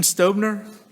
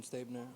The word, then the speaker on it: Stabner: thank you very Christian stubner sir your name and date of birth please Christian stabner oh my 10 2001. um stabner is that sorry I mispronounced it the first time all right you are